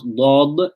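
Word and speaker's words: ض: It applies to dad, because when you pronounce dad, you're bringing the tongue forward in the mouth.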